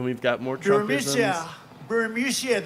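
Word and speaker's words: Burisma: got more troops yeah burmesia they say pronounce it burisia a real beautiful company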